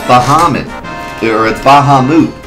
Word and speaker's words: Bahamut: like nice is we have nothing it's pronounced Bahamut according to Alona Final Fantasy and will